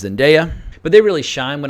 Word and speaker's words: Zendaya: Tom Holland and also I checked online that is the correct pronunciation I've been Connor is in daya for years but her name is zendaya but they really shine